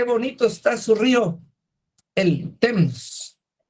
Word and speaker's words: Thames: Támesis en inglés se escribe T-H-A-M-E-S y la pronunciación correcta debería ser Thames.